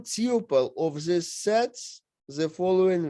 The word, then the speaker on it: tuple: And tuple, some people pronounce it as tuple according to the rules, but as far as I know, it is still tuple.